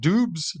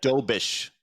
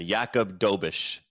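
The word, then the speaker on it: Jakub Dobeš: you pronounce his name is it dubes does it's it's so he's actually uh he's Czech it's a doish so yeah with the sh sound at the end yakob doish okay so I I'll give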